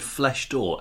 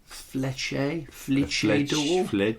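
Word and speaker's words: Flèche d'Or: It said Flesh Door, Flece, with a French accent on the E. Was there an H in there? Fleche door, and then D apostrophe OR.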